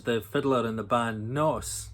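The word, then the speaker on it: Gnoss: Orcadian Graham Rory is the fiddler in the band Nos, the G is silent of course, who've been making waves over the last couple of years.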